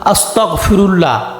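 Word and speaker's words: أستغفر الله: আমরা দৈনন্দিন জীবনে সবসময় করতে পারি এর সঠিক উচ্চারণটি হলো আস্তাগফিরুল্লাহ অর্থাৎ আমি আল্লাহর কাছে ক্ষমা প্রার্থনা করছি আস্তাগফিরুল্লাহর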